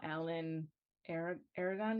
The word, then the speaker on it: Aragon: in the fitness industry um like I saw Alan Aragon is that how you say it yep and